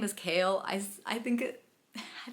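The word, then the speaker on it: Chaol: up with kale I guess his name is kale I I think it I think it should be pronounced Cole but apparently it's kale and the spelling makes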